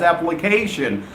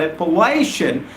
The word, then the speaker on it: appellation: here a-p-p-e-l-l-a-t-i-boy and Appalachian most of my students get out wrong and they start pronouncing it as application well I'm not talking about application I'm talking about it palation there's world of the